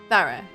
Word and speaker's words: thorough: Thorough. How do you say that, Coco? Help. Thorough. Thorough. Like, pretend the O's a U. It's a weird word.